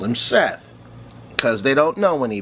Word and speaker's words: Set: s e t t but it's not Seth it is set there's always been set except for that stupid Tom Cruise mummy movie where they call him Seth because they don't know